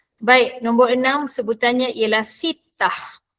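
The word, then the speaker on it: ستة: Nombor enam sebutannya ialah sittah. Sittah bukannya sittat.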